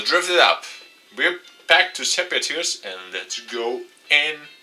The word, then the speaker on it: Sepia Tears: back to Sepia tears. Yes, I finally say it right. Sepia tear. I always mispronounce it. Senpai tears.